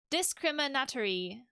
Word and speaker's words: discriminatory: Also, I have to pronounce it like conservatory. So, discriminatory. Like that.